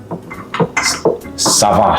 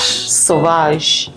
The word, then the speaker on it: Sauvage: It's Sauvage. Sauvage.